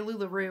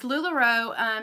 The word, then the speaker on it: LuLaRoe: I say it right sometimes I say Lula Roo and that's not right it's lularoe everyone knows that you